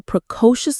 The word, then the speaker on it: precocious: The stress is on that middle syllable. Co. Precocious.